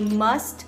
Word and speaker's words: must: I must, e aí go. Começa com uma consoante, eu tenho um som de uma consoante. Esse T do must, ele vai sumir quando você estiver falando.